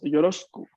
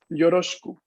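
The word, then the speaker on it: よろしく: Ahora, en la forma hablada del idioma, esta shi es, la i de la shi es bastante, un poco pronunciada a mitad, por así decirlo, ¿no? Entonces decimos yoroshiku. Es como si desde la SH nos pasáramos directamente a la sílaba Q. Yoroshiku. La I se pronuncia mínimamente.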